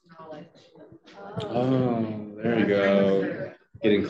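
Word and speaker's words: Nolej: Yeah, Robin said that what I was saying, N-O-L-E-J, is pronounced knowledge.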